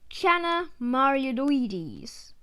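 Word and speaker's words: Channa marulioides: the emperor snake kid scientific name chana marioloides pronunciation chana mariodoides size to around 65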